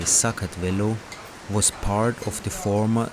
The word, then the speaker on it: Sakartvelo: back in the days Georgia or like locals say socket Velo was part of the